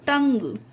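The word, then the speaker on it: tongue: टंग, इसमें देखिए you silent है, पढ़ा था ना, यू साइलेंट रहता है किसी किसी वर्ड में, तो इसमें यू साइलेंट है, इसमें यू का उच्चारण नहीं दिया तो टंग।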